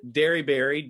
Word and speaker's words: Dearybury: My name is Dearybury. Dairy like a cow, berry like a fruit. It's not spelled that way though, but that's helping you remember how to say it.